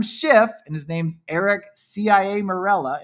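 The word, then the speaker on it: Ciaramella: There was this fake whistleblower who was colluding already with Adam Schiff and his name's Eric CIA Mela. It's Chia Mela is pronounced, but it's CIA Mela.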